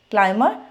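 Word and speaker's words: climb: बी इकट्ठा आ गया तो आपने बी को क्या करना है साइलेंट करना है तो वो वर्ड्स कौन से हैं हमारे कौन से वर्ड्स हैं first is Plummer क्लाइम bummer देखिए इन सब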